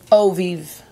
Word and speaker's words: Eau Vive: It's Chanel Chance Eau Vive. Vive. Eau Vive. Eau de Vive. It's just O.